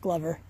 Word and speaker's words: Glover: Spelled Glover, I know, but it is pronounced Glover.